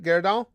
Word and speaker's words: Gyarados: Oh, I did pronounce it right? Gyarados?